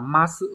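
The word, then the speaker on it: 増す: Nhưng mà chữ này sẽ được đọc là ma sự mọi người nhá.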